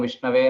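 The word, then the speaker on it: विष्णवे: An intelligent person says, Om Vishnave Namaha, which is correct pronunciation. But a not so learned person may say Om Vishnaya Namaha, like that. But that's wrong.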